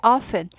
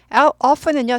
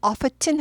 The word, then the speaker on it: often: often은요 자주 종종인데 t가 묵음이죠. often 하지 않고 often 합니다. 미국 중부에 무슨 뭐 지방으로 가면 영국식 영어가 아직 남아 있어서 often 하는 데도 있어요. 근데 그냥 일반 미국식 영어는 often 합니다.